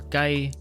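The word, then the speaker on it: 雞: Chicken, or gai, sounds like the phrase hosai gai, which literally means a good world and represents a good life.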